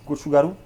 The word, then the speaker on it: gochugaru: Donc là, vous avez gochugaru. C'est le piment coréen en poudre. Tu le Comment prononces tu aussi dis?